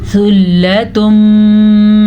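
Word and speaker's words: ثُلَّةٌ: जाता है और हा अक्सर लोग हा पढ़ लेते हैं या ख पढ़ लेते हैं तो हमने क्या पढ़ना है यमी सुलम मिनल अवली सुलम नून तनवीन के बाद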